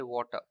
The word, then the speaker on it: water: so water में stress first part में है, and r is almost neglected, so you simply say water।